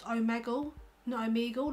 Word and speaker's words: Omegle: gone on the home page and it's actually pronounced omegle no I'm Eagle like I'd be calling if